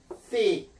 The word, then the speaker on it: thick: th 발음은요. 요 이제 국제 음성 경우는 번데기 발음입니다. 요 thick. 자, 그래서 선생님이 요거 우리 발음으로 하나 만들었습니다. thick. 이런 thick. 자, 요거 A 모양 하는 거. 요게 선생님이 만든 그 번데기 발음입니다. thick. 쓰 발음도 아니게 쓰 발음이니까 요 혀를 이 사이에 두기 때문에 그걸 형상을 해가지고 A처럼 이렇게 썼죠.